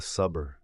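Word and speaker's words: صبر: un peu plus complexe elle produit un S emphatique c'est-à-dire un son plus profond écoutez ce son est produit en appuyant sur la langue voici un mot sa qui signifie patience répétez après moi saber côté écriture sad se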